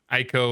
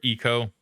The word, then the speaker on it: Ico: I don't know right oh boy Aiko or eco I've heard it pronounced both ways I have two actually